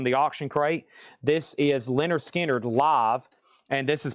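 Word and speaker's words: Lynyrd Skynyrd: This is Leonard Skard live and this is pronounced Leonard Skard live from Jacksonville, Florida Theater near Mint red, white marbled vinyl.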